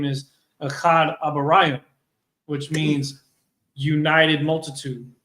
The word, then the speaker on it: Ohad: His name is pronounced Achad, which means united.